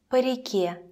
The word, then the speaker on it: по: Compare with по реке, по морю, по реке. In по реке, on the river, по sounds even shorter.